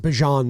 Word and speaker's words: Bijan: It's actually pronounced Bijan these days.